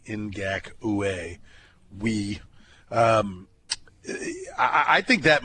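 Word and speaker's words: Ngakoue: what I think is I say it that way because that's how I got to remember to spell it n g a k o u in gaka we um I think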